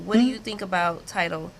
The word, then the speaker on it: Tidal: Tidal?